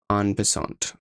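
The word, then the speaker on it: en passant: like that X4 X5 on bant guys that's I that's how it's pronounced in French that's not cringe that's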